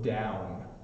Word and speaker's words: down: done done and down so then you can see my mouth just stays open and done done and then down my mouth makes a noise now done you end with your tongue at the top of your mouth so it done and